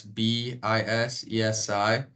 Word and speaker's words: Bisesi: That's Bisesi. Gets pronounced wrong a lot, but it's all good.